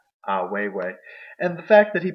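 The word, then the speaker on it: Ai Weiwei: And also a key person that stood out to Morgan is Ah Weiwei. Yes, I said it right. Ah Weiwei.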